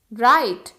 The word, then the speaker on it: write: राइट, WRITE, राइट, W silent है यहाँ पे।